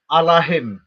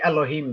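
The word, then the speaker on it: אלהים: It's written with the letter A there. If anybody knows Hebrew, it's not written with the letter E. So it actually says Allahim. Allahim. It does not say Elohim there.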